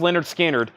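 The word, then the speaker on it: Lynyrd Skynyrd: vinyl that's awesome $44.99 on red vinyl and pronounced Leonard skinnard is sealed $29.99 all right we got some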